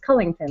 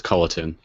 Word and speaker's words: Culliton: then what is it it's cullington right there's just no G so it's ctin oh really I've been